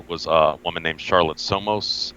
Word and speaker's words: Soames: Her mother was a woman named Charlotte Somos. I believe that's how the family last name is pronounced. It's Soames.